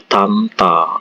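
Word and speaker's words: 닮다: Kata saremta ini bacanya samta, joremta itu dibaca comta, terus ini daremta dibaca tamta, seperti itu ya.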